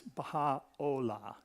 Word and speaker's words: Baha'u'llah: the screen there, and some people say with a U sound, but as a Baha'i, it's Baha'u'llah. Just so you know, in case you're talking to somebody and you want to know how to pronounce it correctly.